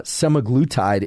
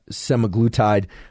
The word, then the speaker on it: semaglutide: such as sematic se I can never pronounce this can't seem to pronounce many things it seems uh semaglutide is the the way I would pronounce it in any case this